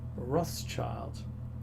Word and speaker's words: Rothschild: the Red Shield Firm, pronounced in German as Rothschild.